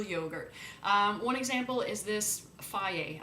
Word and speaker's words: Fage: One example is this Faye. I know it says Fage, but it says it's pronounced Faye.